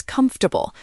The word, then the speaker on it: comfortable: But in reality, it's comfortable. We've completely deleted a vowel and replace the others with schwas.